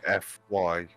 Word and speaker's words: Defy: It'd be like Def with a Y. Defy.